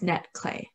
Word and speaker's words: netClé: limited mobility of functions so our name is pronounced netclay so really our mission is to help people with mobility limitations to connect to the digital world with our device so what is netclay neckline is a user-friendly customizable device that enables